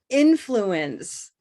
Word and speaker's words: influence: at them we've got influence in influence influence influence color silver pin influence take a look so what we do is take the biggest sound in the word the stressed sound and we organize it